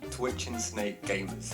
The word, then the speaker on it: Twitching Snake Gamers: How is the official way to pronounce the channel? Twitch and Snake Gamers.